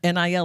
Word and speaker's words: NIL: entertainment attorney and um nil attorney is that the right way to say it are you it's not an niil attorney is it sort of we are yep you that's that's accurate okay that's accurate it